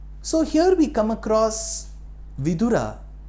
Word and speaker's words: Vidura: So here we come across vidura. Vura vura means wise. Our pronunciation shouldn't be vur. Vura means a widowerower.